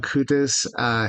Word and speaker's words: Bakutis: Am I pronouncing your last name properly? Bakutis. Awesome. You are? Yep. Bakutis.